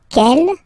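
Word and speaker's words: quelle: q l l but it's pronounced like the masculine form Kell at the masculine k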